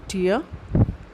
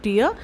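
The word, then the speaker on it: tear: इन हज़ आई एंड the second one इज़ टियर। Okay? देयर इज़ a slight difference between in the pronunciation. Okay? बहुत हल्का सा difference है pronunciation में। टियर एंड टियर।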